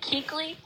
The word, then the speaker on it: Keuchel: Jalen Smith, who's replacing Keuchel because he retired, and Eric Kendricks replacing Radno due to injury. What I hate to see is young players retiring early. Yes, his name you pronounce it like Keekly.